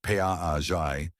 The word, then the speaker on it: Piaget: Jean Piaget, pronounced Piaget, was a Swiss theorist who lived from 1896 to 1980.